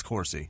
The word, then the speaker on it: DeCourcy: DeCourcy. It's Corsi. I'm pretty sure of it.